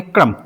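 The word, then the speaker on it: crumb: B silent होगा। इसको पढ़ेंगे क्रम।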